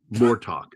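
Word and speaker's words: Murtaugh: Yeah, by the way, when you say uh Myrtto, it sounds like a name from the Lord of the Rings. Mortalk. That's how you say it.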